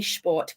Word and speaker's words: Sport: sport they do actually actually say schort because we've systematically taught SP is the sh sound so if I go